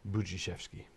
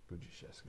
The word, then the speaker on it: Budziszewski: SH doesn't make a S, H, right? The S sound and the H sound are just gone. It's a different sound. It's a SH sound. Okay. Same thing here. The DZ is really J.